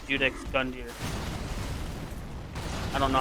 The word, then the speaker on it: Gundyr: fighting gun gear sorry it's not a jason i always pronounced with the j judex gundyr i don't know how